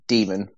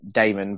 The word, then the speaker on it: daemon: in modern sense but the greek pronunciation is actually demon but i do the same as you and pronounce it damon because they are very